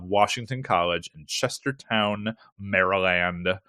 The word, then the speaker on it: Maryland: College in Chester Town Maryland or Maryland as I used to say when I was little and I didn't realize that the Y was a short I sound so yeah yeah i'